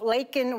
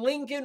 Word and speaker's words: Laken: Rattle him uh by wearing the buttons of lakan Riley he took it and he looked at